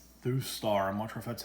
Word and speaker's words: Thustar: purchased this for a buddy looks like it's through star a mantra that's how you pronounce it GSM alarm system got it off